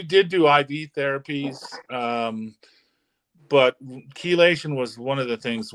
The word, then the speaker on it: chelation: Oh, spell it. I'm not sure. CHELATION. CHEL. I'm not familiar with it. CHELATION.